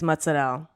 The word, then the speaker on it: mozzarella: a paraphrase cheese mutts i say mozzarella and joe joe and jess of all people is like what that's not how you say it what she licked me oh i hate when dogs like that you just say mozzarell yeah like as if you are you randomly gained an italian accent it's just her father